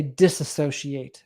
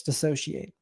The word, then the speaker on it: dissociate: I'm always tempted to say disassociate, but it's dissociate.